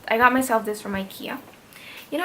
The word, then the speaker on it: IKEA: You know, I actually pronounce IKEA as IKEA because I'm Malaysia. Because I'm a Malaysian. I'm Melayu, so I say it as IKEA. But I don't know, people pronounce it IKEA, so I'm trying to fit in, so IKEA it is.